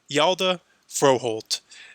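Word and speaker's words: Hjalte Froholdt: the New England Patriots here and this is pronounced yalda froholt and he went from the Cleveland Browns to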